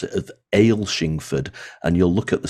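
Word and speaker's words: Athelstaneford: um well it's called Athol stainford if you pronounce it the English way if you live in Scotland people will pronounce it differently and they'll pronounce it of Ale shingford and you'll look at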